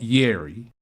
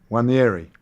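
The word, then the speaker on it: Nwaneri: He says, again, Robbie and friends, it's not Yeri, it's one ne re. One Yeri.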